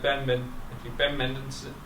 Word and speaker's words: Mendelsohn: Even Ben Mendelsohn, that's how you pronounce his name.